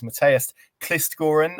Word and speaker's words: Mathias Kvistgaarden: That player of course is Matest Kistgoran as I'm reliably informed by our guest the pronunciation is and I'm delighted to be joined